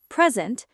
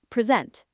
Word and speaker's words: present: Present. Verb. Present.